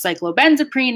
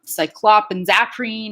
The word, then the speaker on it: cyclobenzaprine: to pronounce these though if i saw something written down like cyclobenzaprine i would know that it's cyclobenzoprene and not cyclopenzaprine or cyclobenzoprene or whatever so there's a there's a